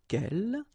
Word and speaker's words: quel: So the first thing, the good news is that if you listen carefully, quel, quel, quel, quel, okay, so phonetically you get only one form.